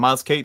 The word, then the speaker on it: Miles Caton: Did I pronounce it wrong? No, no, no, no. The character Sammy. Yeah, and Miles Caton Yeah, is Sammy, is correct.